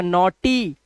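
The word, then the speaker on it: naughty: तो ई लग जाएगा, नॉटी। इसीलिए बताया था वाई होता है जो, वो हमारा सेमी बाउल होता है। यहां पर देखो ये ई का उच्चारण दे रहा है, नॉटी।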